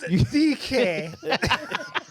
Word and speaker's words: Dique: The tilde. Pronounced Dique. Dique. That's French. Yeah, with a Q.